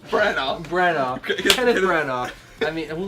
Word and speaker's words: Branagh: How do you pronounce his last name? Branagh.